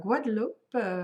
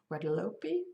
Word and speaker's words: Guadeloupe: It's part of Guadeloupe, which is Guadeloupe, perhaps in English.